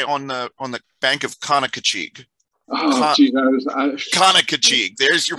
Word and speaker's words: Conococheague: Conococheague. There's your pronunciation.